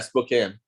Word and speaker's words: Spokane: Yeah, Spokane.